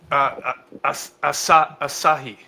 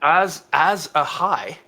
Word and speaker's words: Asahi: What is it called? Azura? Asahi. Asahi. Okay. Or as a high. No. As a Asahi.